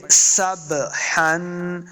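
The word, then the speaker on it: سَبْحًا: حرکت کے ساتھ پڑھنا، تو یہ با اب ساکن ہے، سین زبر با، سب، سب، یعنی اس کو صحیح جنبش کے ساتھ پڑھنا ہے، واضح کر کے پڑھنا ہے، تو پڑھیں گے سبحن، سبحن، ہا کے اوپر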